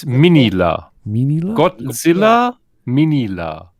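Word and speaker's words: Minilla: The way they pronounce it's kind of more like Minya.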